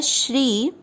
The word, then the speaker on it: श्री: ओम श्री, श्री का अर्थ हुआ श आधा और र पूरा। र पूरे पर बड़ी ई की मात्रा है श्री।